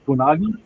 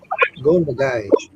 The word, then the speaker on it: Go Nagai: Gonagi? Go Nagai.